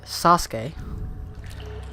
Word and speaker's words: Sasuke: I've heard it pronounced differently. One is that you say it Sasuke.